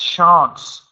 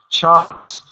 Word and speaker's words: chance: Also, your pronunciation of the word chance. It's really need to fix this because it sounds like you just say any chance, any chance, any chance. Be very careful. You need to pronounce chance. You get a really make sure you do this.